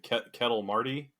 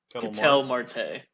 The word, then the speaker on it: Ketel Marte: Ketel Marty? Ketel Marte.